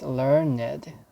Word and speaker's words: learned: it wrong it said it should be pronounced learned for meaning sentence 1 and sentence two but it does not pronounce the e sound the is sound is